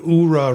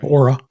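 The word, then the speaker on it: Oura: Um I did notice in this second picture she's got an URA ring on that health ring. Aura.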